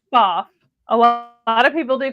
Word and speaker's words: Pfaff: It's pronounced Pfaff. A lot of people do call it Pfaff. Um but I used to work for the company and it is Pfaff.